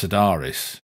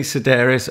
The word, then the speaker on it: Sedaris: other than to say that you got his name wrong it's Sedaris nice idea Rotter don't try and tempt Lee this was an affair discussion a pre-record discussion it's definitely Sedaris I've written it in my own phony tic